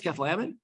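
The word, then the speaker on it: Cathlamet: anchor on one of the local TV stations mispronounce that name, one up from the bottom there. Oops. Everyone knows it's Keflamet?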